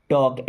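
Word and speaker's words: talk: वह will helping verb है टॉक L silent है टॉक मींस बात करना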